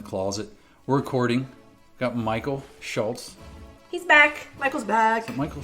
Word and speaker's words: Schulz: way is Schulz. Schulz. Schulz. Schulz. Trying to tell you that. And I'm like, where's the T that you're pronouncing? Is it silent?